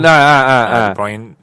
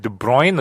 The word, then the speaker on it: De Bruyne: De Bruyne. How do you pronounce it? De Bruyne or De Bruyne?